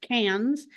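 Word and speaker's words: Cairns: KS but it's pronounced cans Australians take the RS out of a lot of words and they add in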